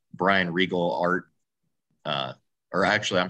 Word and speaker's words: Riegel: quite a few other things um it's brian regal art uh or actually i'm sorry it's brian